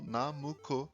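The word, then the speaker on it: ナムコ: Da mesma forma, 765 daria para ser lido então como Namuco, que é a pronúncia japonesa de Nanco.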